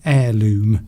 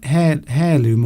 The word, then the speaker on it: heirloom: that as a family heirloom. Yes. Is it heirloom or heirloom? Heir. Heir. You don't pronounce the H.